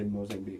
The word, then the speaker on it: Mozambique: brain cells so I'll just say mosan be cuz that's how to say it but U this pattern